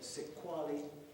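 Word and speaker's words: Sexwale: One is a man with the wonderful name of Tokyo Sekwali, Sex-A-L-E, that's the way it's spelled, S-E-X-A-L-E.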